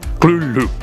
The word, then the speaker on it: Cthulhu: should be noted that Lovecraft originally intended the name to be pronounced closer to gloop because it originates in an alien language that can't be properly spoken by humans however the easier form Loulou is more prevalent so that's